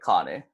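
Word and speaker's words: kāne: and then once more there's going to be a elongation over the ah in common so in pronunciation is gonna be con then instead of guess Connie so one more time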